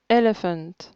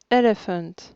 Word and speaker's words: elephant: pas toujours la première elephant elephant première syllabe beautiful beautiful première syllabe